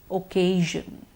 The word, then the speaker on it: occasion: a happy occasion yes the sure sound is in the word occasion please repeat occasion good